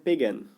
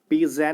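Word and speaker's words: pagan: पेगन। पेजैन नहीं, पेगैन, ठीक है? इसको ग ही प्रोनाउंस करना, ठीक है ना?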